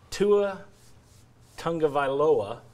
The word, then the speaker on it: Tua Tagovailoa: But Tua Tagovailoa, good job. Thank you. It's not what it's spelled like, unfortunately.